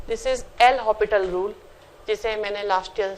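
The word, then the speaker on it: l'Hôpital: का नाम होता है एल हॉपिटल rule. S silent है, ठीक है। This is एल हॉपिटल rule, जिसे मैंने लास्ट ईयर सिखाया था, बताया था, आप लोग भूल गए हैं।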